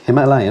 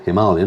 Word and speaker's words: Himalayan: have unveiled the scram 411 a strip back himalayan or himalayan as it's correctly pronounced adventure bike that's been fettled for tackling